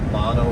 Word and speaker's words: Llano: And hopefully I pronounced this right, but it's Llano River. So double L like llama.